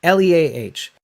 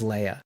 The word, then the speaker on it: Leah: a jewish name but it's not said pronounced as leia it's pronounced leah right then i started